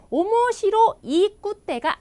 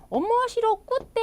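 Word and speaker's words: 面白くて: 빨간 줄을 그어 줬습니다 오모시로이 꽃대가 아니고요 오모시로 구대로 하셔야 됩니다 그래서 오모시로 콧대 하시면 이게 재미있고 재미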